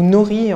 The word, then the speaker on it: nori: Donc là on va utiliser en fait des feuilles d'algues qu'on appelle aussi du nori, ou nori en prononciation française.